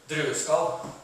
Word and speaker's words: Drueskall: Drueskall. Right. It's the proper, Norwegian translation or pronunciation. You probably say Drueskall, but it means grape skin in Norwegian.